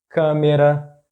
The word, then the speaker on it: câmera: For example in words like "ônibus", "ô-ni-bus", "coração", "co-ra- ção", "café", "ca-fé", "português", "por-tu-guês", "câmera", "câ-me-ra".